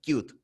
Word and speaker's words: Qt: el scooter primero bueno la pronunciación correcta de esta plataforma de este conjunto de bibliotecas debería ser cute ya pasó lo que